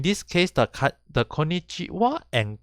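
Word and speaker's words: こんにちは: case the cut the konichiwa and konbanwa even though it's written as ha it is actually pronounced as wah origin from the kanji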